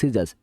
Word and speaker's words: scissors: মাস্কাল, এখানে সব C silent letter.